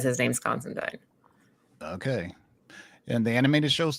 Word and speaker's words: Constantine: with uh with um Constantine or Constantine whatever no you said it right the first time you said it right